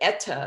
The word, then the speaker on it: eta: we had discussed that but eta is what we how it's pronounced now meaning food for the